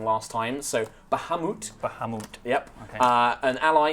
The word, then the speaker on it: Bahamut: of people were very mad at me for pronouncing wrong last time so Bahamut Bahamut yep uh an ally you recruited Cassandra